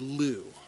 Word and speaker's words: lieu: you didn't even know how to pronounce the word lou it's lou like the name lou lou in lieu of arrest means